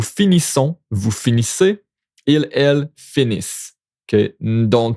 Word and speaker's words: finissent: vous finissez, ils, elles finissent. Okay, don't pronounce the NT. Watch out. You don't pronounce the NT when it's plural.